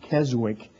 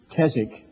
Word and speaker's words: Keswick: understand I've heard the word Kazakh sometimes they pronounce it Keswick but it's Kazakh by the way this was the first year